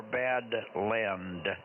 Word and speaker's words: Badland: Spell it phonetically. Land. Yeah, Land, L-A-N-D, Land. Badland winches.